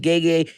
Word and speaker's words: Gege: Okay, so I thought it was Gege, but it's Gege.